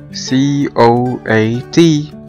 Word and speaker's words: coat: وعندنا كمان كلمة زي كلمة coat C-O-A-T coat او معطف، الاو والاي two vowels، الاو هو الفيرست vowel او الحرف الاولاني بقى long vowel والاي بقت silent ونطقنا الكلمة coat coat coat coat أو معطف.